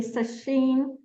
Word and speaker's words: Sacheen: Am I pronouncing that correctly? Sasheen Kat.